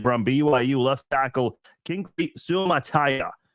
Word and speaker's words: Suamataia: And this year, just moments ago in the 2nd round, they drafted from BYU left tackle Kingsley Suamataia. That's how you say it, Suamataia.